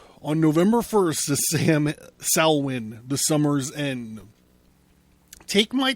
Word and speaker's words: Samhain: salwyn you guys are probably know it better as samhain but i believe it's pronounced salwin that's what halloween three